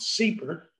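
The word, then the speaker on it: CEEPR: and environmental policy research affectionately called seeper now this is mit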